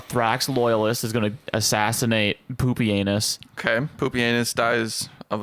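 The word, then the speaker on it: Pupienus: you say his name it's not even like poopy honest it is it is actually poopy anus what a guy and I love that so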